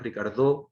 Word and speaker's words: Ricardo: Se llamaba Ricardo, pero le decíamos Ricardo con acento en la O.